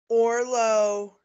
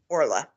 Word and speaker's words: Orla: Orlo goes to John. Orla, I'm sorry, I'm pronouncing her name wrong. Orla goes to John.